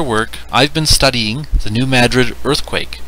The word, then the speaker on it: New Madrid: Yes, New Madrid is the correct way to say it.